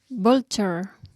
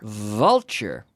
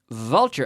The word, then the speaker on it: vulture: the type of bird voltar sorry voltar vulture vulture again vulture yeah with that nice V so take an F